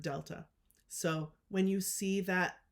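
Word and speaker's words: Δ: as you can see it's pronounced using just the word Delta so when you see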